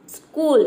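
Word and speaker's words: school: यहाँ पे देखिए स्कूल यानी कि आधा स और का प्रोनाउंस कर रहे हैं, क्यों कर रहे हैं, क्योंकि इन तीनों लेटर में से कोई भी लेटर एस सी के बाद नहीं आ रहा है।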